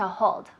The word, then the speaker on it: hold: Remember the pronunciation of the H. It's not, that doesn't exist. We're not spitting. All we're saying is a little. Tell me. Just slightly, as if you were going to clean your glasses.